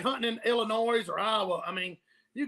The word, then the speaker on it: Illinois: wanted to like clarify the S is silent that's what he's saying